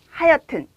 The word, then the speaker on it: 하여튼: 아무튼, 어쨌든, 하여튼 이렇게 발음을 하는데요.